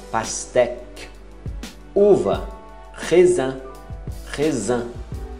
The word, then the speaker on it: pastèque: Pastèque. É um Q mudo. Esquece o U e o E final. Pastèque.